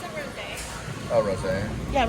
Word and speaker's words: rosé: It's a rosé.